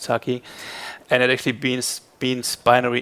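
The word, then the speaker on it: Tukey: So this word was introduced in 1947 by John, I think it's pronounced Taki, and it actually means binary information digit.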